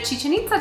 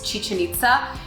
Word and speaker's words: Chichén Itzá: mean to americans but it is a really easy way to remember how to pronounce chichen itza if you remember chicken pizza and that's what they